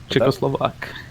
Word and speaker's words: Czechoslovak: So when when it comes to the for the Czechoslovia the how do you say it, Czechoslovakian? Czechoslovak.